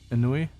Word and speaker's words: ennui: Ennui? How do you pronounce this again? Ennui. Ennui? Okay. Ennui. Yeah, Ennui's right. And in hindsight, it was foolish of me to engage in such inane conversations.